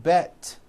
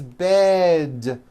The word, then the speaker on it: bed: towards with d endings bed has a voiced d ending it's not bet with an unvoiced t it's bed with a voiced d